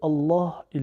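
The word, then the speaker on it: اللهِ: Écoutez bien, le lemme de Allah, il est un peu emphatique. On ne dit pas Allah, on dit Allah. Il a la voyelle I à la fin, donc Allahi.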